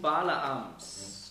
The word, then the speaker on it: Balaam: Also hier wird über den Irrtum Balaams gesprochen. Worin hat sich Bileam geirrt? Balaam, das ist einfach die griechische Aussprache von Bileam.